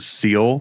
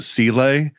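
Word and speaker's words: Seele: For example, in this movie, they don't pronounce it seal. They pronounce it cel.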